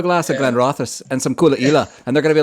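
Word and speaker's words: Caol Ila: And obviously the distillery for this one is Coola, and that's that one with the funny pronunciation. Now when you're reading it, it's Caolila, pronounced Coola. Can I say that? So that's because I've been saying Kawaila for years.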